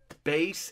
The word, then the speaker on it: bass: This one, the only thing that really concerns me is that it says it's bass enhanced. I wanted to say bass because it's spelled B-A-S-S, but anyway, bass enhanced.